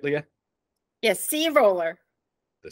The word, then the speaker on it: Sea Roller: program did I say it right Leah yes C roller the C roller and I'm here with Leah